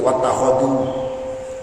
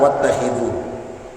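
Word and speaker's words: وَاتَّخِذُوا: Wa fi qiraatin, dan menurut qiraah lain bi fathil kha, khabarun, bentuknya khabar. Riwayat lain, qiraah lain bacanya pakai memfathahkan huruf kha. Yang tadi itu nggih berarti wattakhadhu, tapi kita wattakhidhu.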